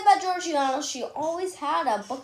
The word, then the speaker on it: Georgiana: Reading by the oil lamplight at age 5, people say about it's actually pronounced Georgiana. People say about Georgiana, she always had a book in her hand,